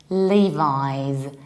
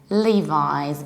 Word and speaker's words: Levi's: we pronounce it like Levi's Levi's both and the British and American accent we say Levi's Li like a name of a guy Lee Levi's and our example